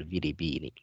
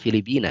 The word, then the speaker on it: Filipina: Hunna minal Filipina atau hunna minal Filipini. Yang benar Filipina ya, karena ini nama negara yang kita bacanya juga Filipina, bukan Filipini ya.